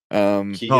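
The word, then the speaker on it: Keoghan: Then we got Ringo is gonna be Barry Keegan, however you pronounce his name. Keegan.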